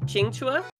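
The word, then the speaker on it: Qingque: Just to simplify it, but her name, I believe, is pronounced Qingchua.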